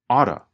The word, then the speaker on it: ought to: Ought to changes to oughta.